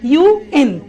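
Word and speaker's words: UN: সবাই খেয়াল করি, আমি এই অর্গানাইজেশনের নামগুলো যখন বলছি তখন কিন্তু আমি ইউএন আন বলছি না, বলছি ইউএন।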